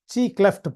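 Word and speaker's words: Xi Cleft: அப்போ எப்படி ப்ரொனவுன்ஸ் பண்ணணும்னா XIக்கு வந்து சி கிளெஃப்ட் பாயிண்ட். XI எப்படி நம்ம ப்ரொனவுன்ஸ் பண்றோம்? சி கிளெஃப்ட் point.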